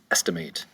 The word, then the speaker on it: estimate: Number 11 is estimate. Estimate, estimate. 3 syllables. The accent is going to be over the first syllable, estimate. Estimate.